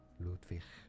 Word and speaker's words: Mises: We are looking at how to pronounce it say that as Mises Mises.